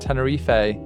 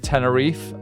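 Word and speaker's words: Tenerife: Tennere. Yeah. A lot of a lot of Brits call it Tenneref. And I think it's pronounced Tennere, I think.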